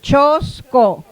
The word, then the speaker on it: Chosco: Chosco, la segunda es una sílaba abierta. Por lo tanto, se acentúa la primera. Chosco. No hay problema.